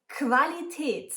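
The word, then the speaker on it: Qualität: cool like quality quality when writing coup you also have to write an ooh after it that's always the rule but you pronounce it a bit different you pronounce it like a k and a w so Quality quality next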